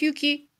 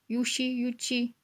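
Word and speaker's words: Yuqi: It's not Yuki. It's more like Yuchi.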